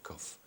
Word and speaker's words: cough: It's spelled in a funny way. I think it's a little difficult. Yes, because it sounds with the F instead of G H.